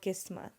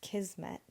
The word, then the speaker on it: kismet: In Urdu, which is the first language that I grew up speaking, it's called Kismat, and that's how you pronounce it. And then when I grew up and learned English, I also heard this word in movies, but it was pronounced Kismet.